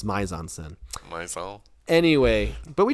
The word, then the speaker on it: mise en scène: I think she said it's mise en scène.